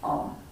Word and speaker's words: Om: A, U is spelled A, U, M. So it's A in the Muladhara, and then U in the chest, and Om.